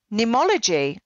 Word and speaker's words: Neimology: It's Neimology, but it's spelt funny because okay. I couldn't trademark a common word like name, N-A-M-E. Yeah. So in Latin, the word for name is N-E-I-M. Okay. So I spelt it Neimology, but with the Latin spelling.